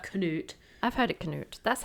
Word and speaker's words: Canute: King Canute. It can also be pronounced as Canute. Canute.